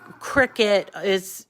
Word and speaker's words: Cricut: And you know, Cricut it sounds like a bug name, a cricket. So that was their way of telling people how to pronounce the name.